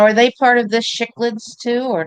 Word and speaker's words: cichlids: Yeah, sick lid. I know what they are. Cichlids. It's not CH. It's S. I'm blaming you for some fish, Terry. CH in Latin is pronounced hard S.